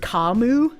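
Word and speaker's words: Camus: It's pronounced Kamu Kus.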